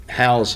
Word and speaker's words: HOUZE: building science inc is a houston based company house is spelled h-o-u-z-e and the z-e stands for zero